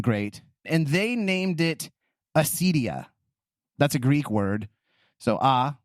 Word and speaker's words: acedia: John Cassian, and then Gregory the Great, and they named it acedia. That's a Greek word. So without, and then I think actually you would pronounce it with a hard K, Kedia.